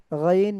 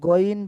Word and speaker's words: غين: মাখরাজ হলকের শেষ হইতে গাইন খ, গাইন খ। তো গাইন যেরকম ভাবে আমরা বলি, আমরা কিন্তু গইন বলি না, আমরা বলি গাইন, অর্থাৎ মুখ স্বাভাবিক থাকে।